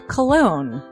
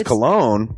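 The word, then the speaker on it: Colon: It is a self-published book by Christopher Cologne. Chris Cologne?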